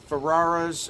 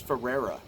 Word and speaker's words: Ferrara: earlier with Body Snatchers Ferrara's approach whoa did they spell that wrong I thought it was Ferrera um I have to see no it's Ferrara it was wrong for